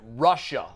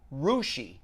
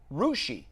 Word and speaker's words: Russia: part of the state it's actually pronounced rushi it's spelled russia are you ssia but it's pronounced rushi they were like we